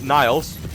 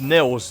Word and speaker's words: Niles: this dragon this is niles welcome to town square spyro begin exploring by gliding to that area with the bulls use the right stick to get a good look i think it's pronounced nils i i don't know